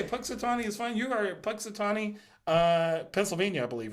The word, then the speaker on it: Punxsutawney: Let's see if I can pronounce this one right. Okay. Panunsatucky. Panunsatucky. You know, like groundhog. That. Oh. Yeah. The place where Punxsutawney.